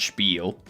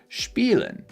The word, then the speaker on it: spiel: I always hear it pronounced as spiel with like the CH in there. I never hear someone say spiel. Yeah. No one says spiel. People always say spiel.